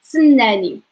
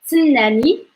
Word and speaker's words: سنني: Ts, ts, ts, snani. Like wait for me. Snani, snani.